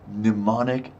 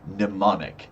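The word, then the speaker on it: mnemonic: Pneummonic device. Pneummonic. Yeah. It starts with an M, but you don't pronounce the M.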